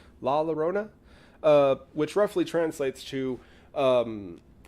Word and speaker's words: La Llorona: actually a few people um the legend of lava Rona and I'm really hoping that I'm pronouncing that correctly La Llorona which roughly translates to um I've heard some